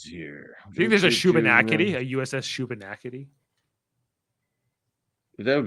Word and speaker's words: Shubenacadie: I think there's a Shubenacadie, a USS Shubenacadie.